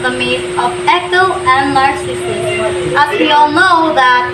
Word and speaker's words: Narcissus: In English, we say Narcissus, but the proper Greek pronunciation is actually Narcissus.